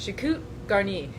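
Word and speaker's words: choucroute garnie: like dressed with cabbage or sauerkraut but it's pronounced chiku garni and I had it have him say it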